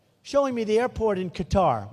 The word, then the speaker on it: Qatar: So this guy's showing me, a wonderful guy, showing me the airport in Qatar, which they say Qatar. I've always said Qatar, so what the hell.